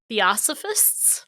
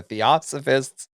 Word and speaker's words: Theosophists: Theosophists? The Theosophists championing of Indian religions. You have to put all the syllables in the word.